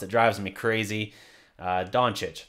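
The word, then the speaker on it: Dončić: Like, I don't know if that's that or if they just think that's how it's pronounced. It drives me crazy. Doncic.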